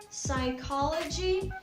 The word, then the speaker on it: psychology: word but anyway so the right way to say it is psychology so that's all for